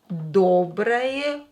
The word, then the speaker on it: доброе: Доброе утро. Доброе утро. Утро. Доброе, not stressed, pronounce it as a.